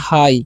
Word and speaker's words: high: Next word यहाँ पर आप लोग देख सकते हो HIGH लिखा हुआ है, तो इसे हम पढ़ते हैं हाई। क्या पढ़ते हैं? हाई। GH का उच्चारण करना ही नहीं है।